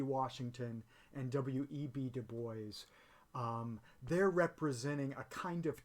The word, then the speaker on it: Du Bois: at the beginning of the 20th century about du bois i spent part of my childhood in louisiana so i always called him w.e.b dubois because i went to school with a bunch